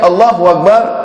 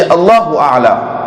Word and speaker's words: Allahu Akbar: pour commencer au salat, une personne pas dire Allahu Akbar, il dit Allahu A'la. Salat là, il n'est pas commencé même, il n'est pas valable.